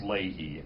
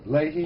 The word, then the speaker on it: Leahy: It's pronounced Leahy. Leahy?